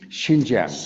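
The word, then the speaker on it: Xinjiang: in the autonomous regions of how do you pronounce it? Jinz Jang. Shinjang. Shing Jang.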